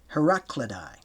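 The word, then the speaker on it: Heraclidae: Immediately after the Trojan War came the invasions of the Heracidi 1104 BC or pronounced Heraclidi spelled H E R A C L I D A E who subjected the Pelponyius.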